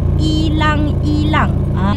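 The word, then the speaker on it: ylang-ylang: Kalau dalam bahasa Filipin dia disebut pokok ilang-ilang. Ejaan dia Y-L-A-N-G lang. Kalau dalam bahasa Melayu kita, itulah ilang-ilang, macam tu sebutan dia tau.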